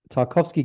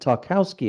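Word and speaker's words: Tarkowski: I don't think it's pronounced Tarovski cuz he's English and although he's probably got Polish heritage or something or whatever it is with that surname. I think he's grown up pronouncing it Tarowski. And when I when I see him on videos, I'm pretty sure he pronounces it Tarowski, which sounds like something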